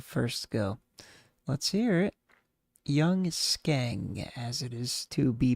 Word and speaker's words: Young Skeng: Young Skeng, as it is to be pronounced.